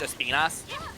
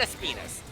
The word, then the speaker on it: Espinas: Well, here's the thing: Espinas is actually the proper pronunciation of the word in Spanish. Yeah, I just don't. It's not Espinus though. It's just funny to call the monster Espinus. Yeah, like Espinas is like closer to how you should actually be pronouncing it.